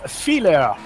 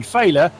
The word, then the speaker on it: Fehler: It's Fehler. Fehler, yes. Which, ironically, we've been pronouncing it as essentially failure.